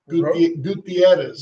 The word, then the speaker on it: Gutierrez: Say it with me. Gutierrez. Gutierrez. It's a Etta. Gutierrez. Roll your R.